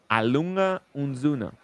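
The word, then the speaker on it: A. Lange & Söhne: We're we're according to Fred, we're mispronouncing Lang, but I call it Lang.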